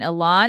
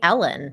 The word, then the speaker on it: Elon: is the key line elon is going to go for a controlling stake why do you say his name wrong i don't know i know you sound like you're saying ellen because elon i don't know i